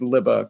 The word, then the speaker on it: Lubbe: Me being from South Africa, it's in Afrikaans. And so it's pronounced Lubbe, L-I-B-B-A, Lubbe.